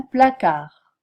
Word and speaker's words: placard: ne se prononce jamais tard grand un placard on n'entend pas le T le D non plus trop beaucoup un coup